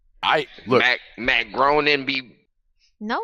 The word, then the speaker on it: Groening: um did you know that his name is pronounced Matt grading oh no it's like some jiff gift I look at Matt Groening be no it's raining whatever whatever the Simpsons